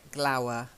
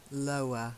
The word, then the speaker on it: lower: it takes the e AE sound cream-colored try it that's it and then lower it's not like glower lower low lower the lowest try it low there